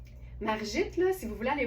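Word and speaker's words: Margittes: Ça s'écrit M-A-R-G-I-T-T-E-S. Margit. Ou Margites, mais c'est pas de même, ça se dit, je suis certaine.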